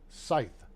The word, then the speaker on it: scythe: Sith F SI but it's a long I so it's Scythe I learned something today